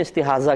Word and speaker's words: استحاضہ: ضاد جس کو کہتے ہیں ضاد اور ہا، استحاضہ، اور اردو میں استحاضہ کہہ دیتے ہیں زے کے ساتھ، تو یعنی ہے ضاد ہی لیکن اردو میں ہم زے کے ساتھ تلفظ کرتے ہیں استحاضہ۔ استحاضہ کا مطلب ہی